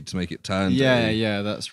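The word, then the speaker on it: Thandiwe: Yeah, it's spelled Tanduay, but it's like, it is pronounced Tanduay.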